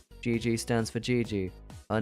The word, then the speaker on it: Gigi: Gigi. The phrase, it's pronounced like the phrase, GG. GG stands for Gigi.